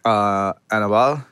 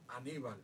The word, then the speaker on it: Aníbal: Ramirez as Julio, and Dominic Colon, who played Annabelle. Can you say it, Renee? How do you say the name? Annabelle? Remember Annabelle from the Taínos? Oh, Aníbal.